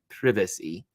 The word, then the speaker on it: privacy: thing be mindful of people's privacy or as the British say my privacy especially in polling stations